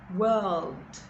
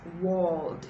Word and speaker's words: world: Church, word, world, Now this word is dicey because it is not walled. It's not the long O sound. I hear a lot of people pronounce it with the long O sound, but it's actually the sound. World, world, world.